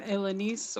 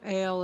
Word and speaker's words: Elenice: Well, I am Elenice, or Ale is usually the easiest way to pronounce it for most people.